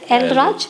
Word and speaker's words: El Raj: The MVL El Raj green. Am I pronouncing it right? Elraj.